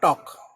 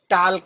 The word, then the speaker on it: TALK: जब हम बोलते हैं, लिखने में L आता है, बोलने में नहीं आता। तो बोलने में होगा टॉक, लिखने में होगा TALK। अब इसको ये मत कहना कि ये टाल्क हो गया, वो गलत है, टाल्क नहीं।